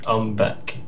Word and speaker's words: Ombeck: I'm being told it's actually Ombeck.